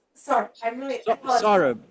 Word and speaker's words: Saurabh: And your name, we pronounce it Sarah. Sorry, I apologize. Saurabh. It's like Sarah, eh? sawing with a saw and rub as Sorry. in bad rub.